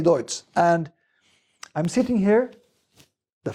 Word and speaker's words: Deutz: Champagne Deutz, you name it, because it's German from the start, which is Deutz, but the French can't pronounce it, so it becomes Champagne Deutz, something in between. So personally, I say Deutz, and I'm sitting here,